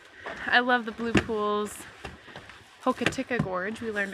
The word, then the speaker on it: Hokitika: Hokitika Gorge, we learned it's pronounced.